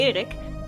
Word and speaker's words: Erik: So, I here have Eric, but if I say it properly in Dutch, it would be Erik, saying I would go for the extra starbase naval cap if playing tall.